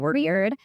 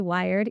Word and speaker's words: Wyrd: also very weird and it's sort of the you know ancestor root word weird and we're weird and also um you know some people say wired and we have a cafe so no matter how you say it you're not wrong and you know we